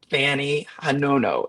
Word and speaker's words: Fanny Hanono: Fanny Hanono. Am I pronouncing that correctly?